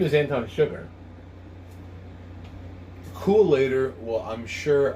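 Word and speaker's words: Anton Chigurh: on the book it's anton sugar it's pronounced with an sh not a ch and it's i guh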